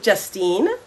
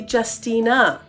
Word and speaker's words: Justina: network back to you justine thanks juniper quick correction i'm getting from our producer phil my name is actually justina three syllables our thoughts and prayers